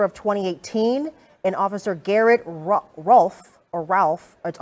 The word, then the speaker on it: Rolfe: those are the officers that were involved uh atlanta police telling me that it is officer rolfe or ralph if i pronounced it correctly is the one that